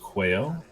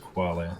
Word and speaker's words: quale: I'm hearing, I hear rumors of just quail or quale. It's definitely pronounced quale. It's a Latin word.